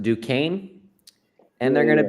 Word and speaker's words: Duquesne: They're pronounced Duquesne, and they're Yeah, going to they're going to lose it to Boston College.